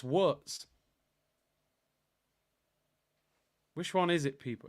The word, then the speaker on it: Wirtz: W is pronounced V in Germany. See, the community, what's going on here? 2 of you have told me 2 different things. Anthony's saying it's Wirtz. Aeon's saying it's Wirtz.